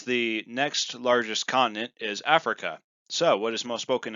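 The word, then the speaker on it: Afrika: And the way to say Africa in Swahili is Africa, but spelled with a K, because the C in Swahili is not used at all for the K sound. That's only used in the Ch sound when you have CH.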